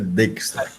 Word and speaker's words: Dijkstra: Dijkstra, a pronúncia é Dijkstra.